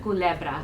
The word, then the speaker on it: Culebra: Culebra.